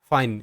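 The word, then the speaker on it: fine: এফ আই ফাই এন তে ন ফাইন, শব্দের শেষে ই সাইলেন্ট।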